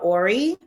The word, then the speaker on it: ori: I I can't wait to hear more about about Tell me how to pronounce it again. So, it's a Yoruba um word called ori ori.